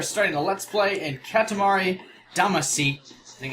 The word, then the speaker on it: Katamari Damacy: here we are starting the let's play and Katamari Damacy think it's how you properly laying that's how